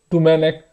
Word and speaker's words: Domènec: A gente vai acabar falando Domenech, mais ou menos, como tem falado na televisão, Domenech, Turren ou Torren. Enfim, você já sabe como que fala, Domenech, Turren.